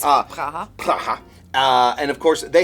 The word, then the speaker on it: Praha: I went to a place in Prague, Praha, I believe. Praha. Praha. They sometimes pronounce it as. It's Praha.